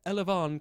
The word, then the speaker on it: elevon: pressure I don't think next is elevon elvon it sounds like the fanciest way to say the word 11 uh yes it is elvan clock it is spelled e l e v o n noun from 1944 this